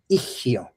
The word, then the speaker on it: ihio: So it's pronounced ihio, ihio, ihio. You can try it with me. Ihio. The H, this H in Nahuatl, it sounds like you are kind of like exhaling your breath.